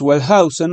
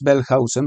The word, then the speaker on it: Wellhausen: Entonces, esto es lo que hace que Julius Wellhausen, o Julius Wellhausen, para pronunciarlo correctamente, haya afirmado que el Pentateuco no fue escrito exclusivamente por Moisés.